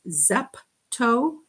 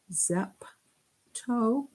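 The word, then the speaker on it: zepto: helps me remember them this one is zap toe zap toe and this one is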